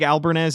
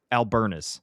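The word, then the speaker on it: Albernaz: And Craig Albernez is Albernas.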